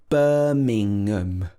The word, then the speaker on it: Birmingham: the end birmingham birmingham so it's nothing to do with ham it's nothing to do with the food it should be birmingham birmingham and we stress that bur the first syllable here birmingham number two is very